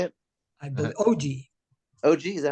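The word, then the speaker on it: Ogea: OA is that how you say it I OG OG is that how you say it o OJ OJ it's OJ all right Chad give me a second that's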